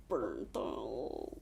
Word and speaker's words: Bernthal: And John, I'm going to mispronounce his name. Bernthal.